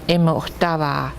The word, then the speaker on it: Imotava: So this is how you say it. Nako is bear, and Imotava, he is black.